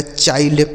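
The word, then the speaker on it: child: आई एन D bind C एच आई एल डी तो सी एस से हो गया दोस्तों चौ इस आई का उच्चारण आई हो गया एल से आधा ल और डी से ड ये लिखा गया चाइल्ड ठीक है तो आई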